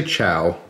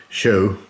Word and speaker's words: Chou: there I'm gonna say ciao it's spelled CH oh you in Japanese I believe it's pronounced show or something along those lines if you speak Japanese